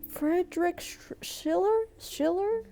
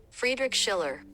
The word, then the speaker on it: Friedrich Schiller: Why when the last name comes I can't Frederick Schiller? My brain's turning off. Let's hear it. Friedrich Schiller. Oh, butchered the whole name, girl.